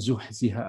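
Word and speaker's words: زحزح: Ya, zuhziha harus sifatul hurufnya juga pas dengan ha-nya itu, za-nya juga.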